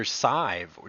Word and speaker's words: Sidhbh: In a field of medicine characterized by poor patient outcomes and worse ethics, Dr. Sidhbh rhymes with J. Dr. Sidhbh.